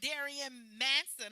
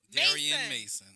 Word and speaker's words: Darien Mason: my couch my boy Darien Manson. I always say your name wrong. Darien Mason.